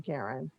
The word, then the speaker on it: Karin: I'm saying it correctly, Karen? Yes.